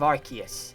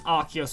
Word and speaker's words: Arceus: I used to think it was Arceus, but also Arceus makes sense because Arc and Deus, which is like the phonetic way that the name is spelt, so I'm gonna go with Arceus.